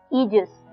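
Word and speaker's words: aegis: एक अच्छा वर्ड है वर्ड की प्रोनंसिएशन ध्यान से सुनिए इजस ई जस ए ई जी आई एस ई जस ये नाउन है और इसकी स्पेलिंग है ए ई जी आई एस जजस जजस बोल रहे हैं पर शुरुआत में ए आ रहा है जो कि साइलेंट है सो जजस जस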